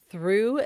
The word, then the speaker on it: through: In the word through, they make the oo sound.